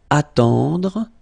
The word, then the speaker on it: attendre: Then attendre, attendre, remember final you don't insist on it, it just gives you the possibility to pronounce the dr, okay, so attendre, attendre, alright, and it's to wait.